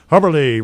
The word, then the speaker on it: Hubberly: Hubberly rhymes with Zacherly.